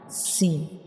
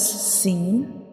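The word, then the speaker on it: سين: You can see this is the inner view of mouth, and when we pronounce Sin, the tip of tongue rises towards the upper palate and touching the gums behind the upper 2 front teeth.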